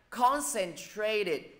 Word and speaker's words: concentrated: Concentrated, nhấn vô thứ nhất.